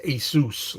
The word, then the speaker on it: Asus: you say it again I think it's pronounced Asus like hey like Jesus as us something yes it's not ass but you know and